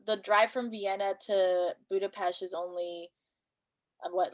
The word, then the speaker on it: Budapest: So the drive from Vienna to Budapest is only what, like 3 hours. It's super Mm, close, like right mm. there. Oh, Right. fun fact for you. Oh, It's please. pronounced Budapest, not Budapest.